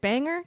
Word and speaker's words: Bangor: Is it Bangor? That's up north Yeah, there. well, you said that very well. I did. You pronounced it perfectly.